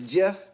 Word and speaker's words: Geoff: It's Jeff, but Oh. it's spelled Geoff.